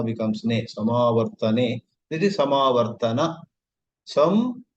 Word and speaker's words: samāvartana: I grew up in my small town and I always heard the word mispronounced. There is marriage in that family, and the next Friday is Samartne. They used to say Samartne.